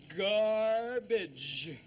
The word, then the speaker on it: garbage: The first one is pronounced G, and the second one is pronounced J, don't you see? It's garbage.